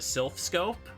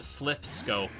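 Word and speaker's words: Silph Scope: like, you know, the Sylph Scope. They kept pronouncing it as the Slith Scope.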